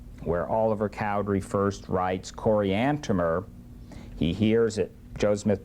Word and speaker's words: Coriantumr: 1 and 15, where Oliver Cowdery first writes Coriantumr. He hears it, Joseph Smith pronounces it, and he writes it, and he writes at the end T-U-M-M-E-R, Coriantumr.